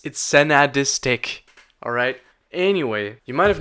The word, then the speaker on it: Sensadisc: Nobody can pronounce it. It's Senadistic.